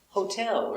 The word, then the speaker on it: hotel: repeat now with hotel you put these stress on the second syllable hotel now hotel but hotel say a hotel repeat very good and we see the tea between two vowels is a tea is not a deep because the stress is